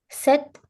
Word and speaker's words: sept: In set, the P is silent.